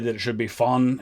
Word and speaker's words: von: that it should be fun it's more of an f sound than a v sound forgive my american-ness on